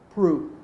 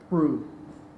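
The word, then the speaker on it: Proulx: Prue, spelled P-R-O-U-L-X, but pronounced Prue.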